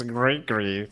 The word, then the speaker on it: Grigri: So I learned it's pronounced Grigri. So that's how we should go for it. Actually, it's Grigri. That's the way you say it.